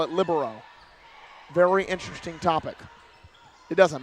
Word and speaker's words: libero: a video and I cannot tell how it's pronounced libero or labero what is your director I'm asking you it's libero I mean I heard a lot of college coaches call it libero very interesting topic it doesn't matter but very